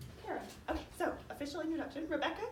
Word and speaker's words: Karam: Karam.